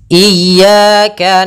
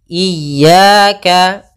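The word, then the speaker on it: إِيَّاكَ: Ada dua kesalahan yang sering terjadi dalam pelafalan iyaka. Yang pertama memanjangkan i. Memanjangkan memanjangkan i. Apabila dipanjangkan huruf i-nya banyak. Contoh iyaka salah karena dia memanjangkan. Yang kedua adalah menahan iyaka. Ah itu salah juga.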